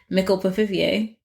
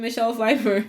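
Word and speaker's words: Michelle Pfeiffer: know, Michelle Fefeifer, or as our flat mate Georgie says, Michl Pifier. She does. She said it by accident last night. It was great. What does that mean? She just mispronounced it and she's like, "Oh, I mean Michelle Fifer."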